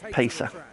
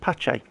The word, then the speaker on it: Pace: Well, I was talking to Dave yesterday about this word Pesa, and that's what I pronounced it, but he pronounced it Pache.